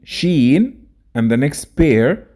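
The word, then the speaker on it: شين: And let's quickly know how to pronounce each of them. Seen, sheen, and the next pair, sod, dod.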